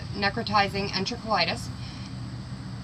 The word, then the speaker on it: necrotizing enterocolitis: He caught NEC, which is necrotizing enterocolitis, which, yes, my fiance just made a face at me because I pronounced it right.